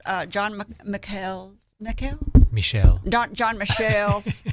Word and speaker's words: John Michel: john mchale nickel michelle john michelle that's how you say his name because he's french john michelle's uh military